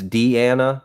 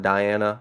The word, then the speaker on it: Deana: for still being here it's Deana but not Diana okay sorry for mispronouncing your